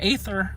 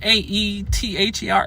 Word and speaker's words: Aether: And I call him Aether a lot. A-E-T-H-E-R, Aether. I pronounce the A, and I know you're not supposed to, but anyway.